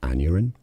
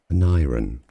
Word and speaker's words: Aneurin: Aneurin, and I think that's more the American pronunciation, Aneurin. Now, the UK, it's pronounced more as Aneurin.